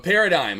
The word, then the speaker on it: paradigm: U Paradigm. Okay, cool. Gosh damn, that one. Now, that's a hard one there. I'm like, what's the silent G?